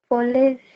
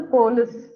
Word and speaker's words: police: Police. Okay, so யூஸ்வலா நம்ம வந்து போலீஸ் அப்படிதான் வந்து சொல்லுவோம், இல்ல போலீஸ் அப்படி சொல்லுவோம். பட் the correct pronunciation is police. Okay, ப சவுண்ட் Police.